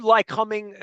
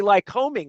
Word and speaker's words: Lycoming: I would say Lycoming. I'm pronouncing it wrong, Well, I right? tell people that, and people do, but I tell them if you take the ly off, the word coming is coming.